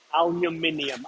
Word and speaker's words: aluminium: You see a lot of shops and they're aluminum. Aluminium.